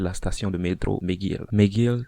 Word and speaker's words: McGill: McGill s'écrit MC Gilles, mais ça se dit McGill.